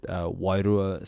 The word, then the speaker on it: Wairua: Wairua. Wairua. There it is, man. And you roll the Roll the R.